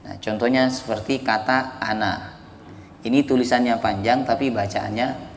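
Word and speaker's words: أنا: Nah, jadi kalau nyambung bacanya pendek ya. Tetapi kalau berhenti pas di kata yang ada tanda nolnya itu dibaca panjang, kembali ke hukum asalnya.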